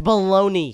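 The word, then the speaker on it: bologna: dry baloney fine I'll try turkey bolog it's not pronounced like that it's baloney bagna no it's spelled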